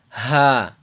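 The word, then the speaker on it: ح: the chest around here so the letter comes from the chest to the bottom of the throat so the way this letter sounds is ha so basically when you when you get that bad grade you're like right it's a really deep sigh so you want to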